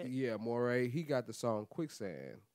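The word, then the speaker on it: Morray: Yeah, Moray.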